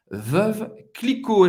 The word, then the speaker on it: Veuve Clicquot: Não tem muita dificuldade para pronunciar essa marca famosa francesa. Veuve Clicquot.